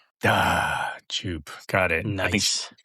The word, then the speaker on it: Djupe: Well, I always say the D is for decoration, so it's just Djupe. Djupe.